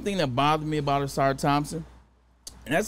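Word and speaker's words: Ausar Thompson: When I looked at one thing that bothered me about Asar Thompson, and that's how you say it, I got it right there, Asar Thompson.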